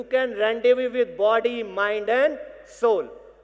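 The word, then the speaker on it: rendezvous: हम आज उसी थीम के साथ आपके सामने आए हैं कि हम, रेंडेव्यू इज अ फ्रेंच वर्ड, लिखा हुआ रेंडेव्यूस दिखाई देगा लेकिन इसे प्रोनाउंसिएशन रेंडेव्यू है।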